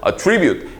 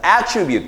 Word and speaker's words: attribute: 액센트가 뒤로 오거든요. 동사로 쓸 때는 attribute, A를 B의 탓으로 돌리다. 근데 명사로 쓰여서 액센트가 앞으로 오면서 attribute 이렇게 쓰이게 되면 특징이나 속성이라는 뜻이 됩니다.